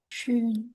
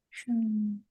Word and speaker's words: schön: O umlaut tadi bacanya Schön. EO. Schön.